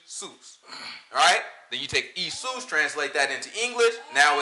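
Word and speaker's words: Ἰησοῦς: have a J Sam they would pronounce it isus alright isus in Greek and that was the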